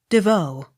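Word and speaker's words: Des Vaux: v a u x devoe the x not sounded d e v e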